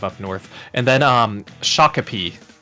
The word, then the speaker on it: Shakopee: North and then um Shakopee is what I've what I'm being told for the pronunciation um so you guys